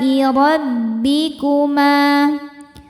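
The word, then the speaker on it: رَبِّكُمَا: Alai rabbikuma, ro dibaca tafkhim karena berharokat fathah. Cara bacanya ditebalkan.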